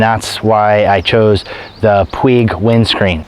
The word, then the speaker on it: Puig: There was a female Italian tennis player whose last name was P-U-I-G, and the announcers pronounced it as Puig.